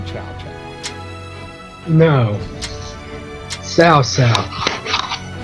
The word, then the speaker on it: Cao Cao: Sao Sao. It's better than what they used to say, which is cow cow, before they started getting the pronunciation somewhat when I correct.